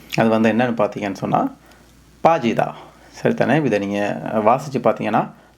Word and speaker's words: 빠지다: இந்த பாஜிதா அப்படின்னு சொல்லி வாசிச்சிங்கன்னு சொன்னால் அது பிழை. இது வந்து சங் பியூப் அப்படின்னு சொல்கிறதான 2 பானா சேர்த்து எழுதுன ஒரு எழுத்து. அப்போ இதை வந்து நீங்கள் பாஜிதா அப்படி தான் நீங்கள் உச்சரிக்கணும். கொஞ்சம் ஒரு சின்ன ஸ்ட்ரெங்த் ஒன்று நீங்கள் கொடுத்து பாஜிதா அப்படி சொல்லி உச்சரிக்கணும்.